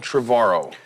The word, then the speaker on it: Trevorrow: I'm here with my guest, Colin Trevorrow. You said it right, finally. Trevorrow, like tomorrow.